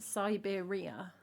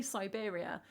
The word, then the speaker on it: Siberia: Because she says it Siberia like kind of to fit the rhythm, but you can say Siberia and it still works. She puts emphasis on the third syllable and I don't like it.